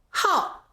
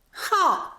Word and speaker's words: 好: 这个字有 2 个读音，好，好是喜欢的意思，他是个好学的孩子。